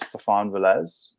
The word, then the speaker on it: Stephan Velez: the first to ask so it really depends uh my actual name is stefan velez uh that's what you